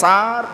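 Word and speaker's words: سارة: প্রথম যিনি স্ত্রী ছিলেন আমরা তো বাংলায় সারা সারা বলি সারা না সারা আরবিতে হচ্ছে সিন আলিফ জবর সার র জবর র তারপরে গোল থা তো এটাকে আরবিতে উচ্চারণ হচ্ছে সারা তিনি ছিলেন প্রথম স্ত্রী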